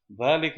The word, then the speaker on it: ذلك: Note, dhalika is pronounced dhalika but is written without the alif. So just like hada, you didn't get the physical alif. Similarly, in dhalika, it's written like this, but it is pronounced like this, dhalika.